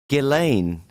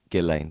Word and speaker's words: Ghislaine: Yeah, as everyone is probably well aware of by now, Ghislaine, so that's how you pronounce her name, as that she's been in the news now, so everyone's learned how to actually.